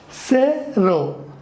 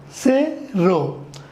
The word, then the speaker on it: cero: I will also help you with the exact pronunciation now let's see say row say row this is zero oh no those is very